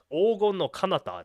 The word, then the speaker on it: Ogon no Kanata: Ogon no Kanata, not Canada.